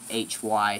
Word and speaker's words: Lachy: It's actually Lucky, by the way. It's not Lucky, it's Lucky. It's with an A. It's Lachy, so yeah. It sounds like Lucky, but it's pronounced Lucky.